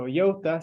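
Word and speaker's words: iota: Yota of f so Yota sounds like yoin which is of course the way that a suite would pronounce join this is I couldn't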